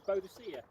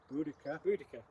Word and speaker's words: Boudica: one of the most famous British women warriors, Boadicea. Boudica. Yeah. Queen Boudica.